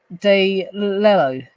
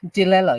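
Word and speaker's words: DiLello: of The Beatles by Richard De lello Dello I think that's how you pronounce it I'll show you the book if I just go like that and scroll down you can see all the details of it Dello I think that's how pronounce it d i l e l l o Richard delello the longest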